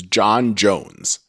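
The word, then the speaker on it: J'onn J'onzz: And I was thinking, I think his name in the comic books is John Jones, but it's spelled funny. It's like J''ONN and then like J''ONZZ or something like that. Like it's a weird spelling because he's not from Earth, but his name is basically John Jones.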